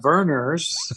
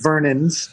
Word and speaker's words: Vernors: We had Verner's, which is spelled Vernors. Right. That's right. It's not Vernon's, but I'm sure there's some carbonated beverage named Vernon's somewhere that could.